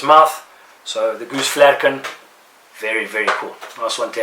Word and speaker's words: Flerken: Most people will call it Flurken. I believe it is a German word or Dutch word, which would be pronounced Flerken.